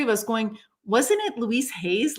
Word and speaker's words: Louise Hay: Like, someone remembered Louise Hayes as, I'm saying her name wrong. It's Louise Hay of Hay House.